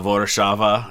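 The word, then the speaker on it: Warszawa: are very similar like uh warsaw poland uh vodachava in in polish uh things like that uh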